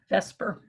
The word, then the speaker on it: VSEPR: They usually pronounce it vesper.